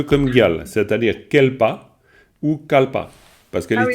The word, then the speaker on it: kalpa: considéré comme exception, mais disons kalpa, kelpa, kelpa normalement, mais évidemment kalpa, on prononce bien souvent kalpa. Kalpa qui, pourquoi? Parce que alors le kalpa, ça vient, disons là c'est un cas un peu particulier, parce que kalpa c'est un mot sanskrit, c'est-à-dire qu'en sanskrit ça se dit kalpa.